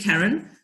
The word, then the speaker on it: Karen: Karen, spelled like Karen, but said Karen.